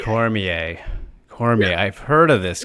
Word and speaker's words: Cormier: yes the competition yes yes Daniel Cormier it's pronounced Cormier Cormier cor I've heard of this guy he was